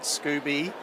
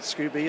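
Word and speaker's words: Skoobe: you know we had scooby as i called them scoob earlier on but scooby i think is the official pronunciation which is like a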